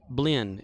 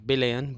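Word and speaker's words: блин: Or blin, as it's called over there. Not bilin, but blin.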